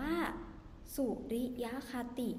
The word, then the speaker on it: สุริยคติ: ระบบ สุริยคติ นะ คะ คำ นี้ อ่าน ว่า สุริยคติ นะ คะ สุริยคติ คือ อะไร สุริยคติ